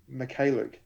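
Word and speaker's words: Mykhailiuk: McCalluke.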